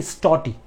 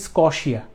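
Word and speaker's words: счёты: এবাকাসের ধরণ এটাকে আসলে রাশিয়ান ভাষায় উচ্চারণ হচ্ছে স্টটি স্ট টি স্টটি স্টটি কিছু জায়গায় এটার উচ্চারণ লেখা আছে স্কশিয়া স্কশিয়া বাট আমি যেটা পেয়েছি আসলে উচ্চারণটা সেটা হচ্ছে স্টটি ঠিক আছে স্টটি বানানটা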